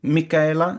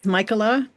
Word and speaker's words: Mika: Uh let's see if we go to Mika. I hope I'm saying that name more or less right. I pronounce it as Michaela. Michaela. Sorry. I have relatives who say Mika.